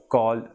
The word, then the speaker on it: calle: Double L is A, for example, calle or llamar.